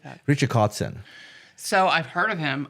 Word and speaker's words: Kotzen: Richie Kotzen.